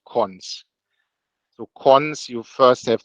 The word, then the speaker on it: cons: way around in the in the this is pronounced cons so cons you first have the element then